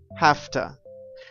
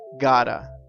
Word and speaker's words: have to: now we know that when we use have to one way to change the pronunciation is saying hafta I have to work tonight but an also very common way to say have to is gotta we change the sound completely and we say gotta I gotta work tonight